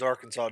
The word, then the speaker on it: Arkansas: I laugh because Arkansas doesn't do any better. Well, you have an entire letter you don't even pronounce.